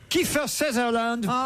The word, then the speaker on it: Kiefer Sutherland: Kiefer Sutherland, c'est comme ça qu'on prononce.